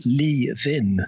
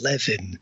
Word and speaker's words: Leven: Apparently, it's pronounced Leven, not Levin.